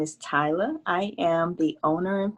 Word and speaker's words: Tyla: tyler if you would introduce yourself did i pronounce it right is it tyler yes tyler welcome to travel and if